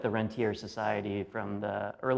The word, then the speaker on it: rentier: as opposed to a rentier. This is one of the key facts. A rentier is right, the proper French pronunciation.